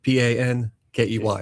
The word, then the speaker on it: Pankey: Pankey. Like hanky panky.